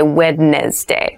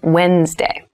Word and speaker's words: Wednesday: this is pronounced wednesday there's a d there but we don't say wednesday we say wednesday wednesday the 18th wednesday